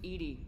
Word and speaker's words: EDI: Why are you named Edy? ED is the phonetic pronunciation of EDI.